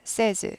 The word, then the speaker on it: says: 세이의 s를 붙인 다음에 발음은 says 아니고 사이즈 세즈 세이에서 a 발음에서 에러 바뀝니다 발음이 세이지 아니고 세즈 세즈 현재형 세이에서 센스가 된다라는